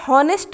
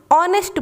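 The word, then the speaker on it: honest: एच, ये consonant है, लेकिन जब हम इसको प्रोनाउंस करते हैं तो हम यहाँ पर हॉनेस्ट नहीं बोलते, ऑनेस्ट बोलते हैं। एच का जो साउंड है वो साइलेंट हो जाता है और हमें यहाँ पर ओ का साउंड सुनाई देता है, ऑनेस्ट।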